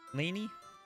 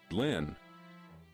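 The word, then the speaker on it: Lynne: do you say that is that Lany is that correct I'm gonna have to like I have to Google it because I have no idea how to say this how how do you say this word Lynn it's just Lynn okay yeah no that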